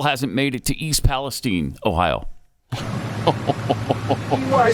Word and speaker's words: Palestine: It's Palestine. That's what I thought. And the old man just went along with the reporter's mispronunciation.